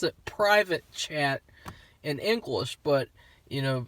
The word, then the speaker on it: Pvt Chat: of sound kind of kind of sounds like pervert chat but no it's private chat i guess chat